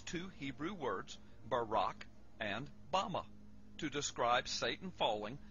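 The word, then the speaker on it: במה: in the Strong's Hebrew dictionary and it is pronounced Bama Bama is most commonly used to refer to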